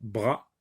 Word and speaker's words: bras: Bras, bras, bras ne contient qu'un seul ou bien ne se compose que d'une syllabe, bras. Le S est une lettre muette. Donc, br plus A, ça se dit bras, bras.